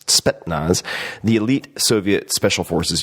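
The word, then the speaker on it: Spetsnaz: want to mispronounce always it's not spetnaz spetnaz the elite Soviet special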